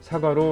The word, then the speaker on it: 사과: It pronounces 'sa' 'gwa' in Korean.